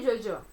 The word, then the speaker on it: yo-yo: Na Argentina, eles vão pronunciar, né, de uma forma diferente. Mas eu pronuncio Jojo, ok?